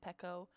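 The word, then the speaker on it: Pekoe: have um pico pekko i think it's meant i looked it up before and i think like the very first thing that comes up is pico but then if you look into like actual animal crossing they've said that it's meant to be pronounced pekko so i never know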